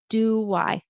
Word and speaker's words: do I: There kind of is a a little a W shadow. Do I in between? Because sometimes people will say do I. How do I put it together? Doy. It's a It's a W.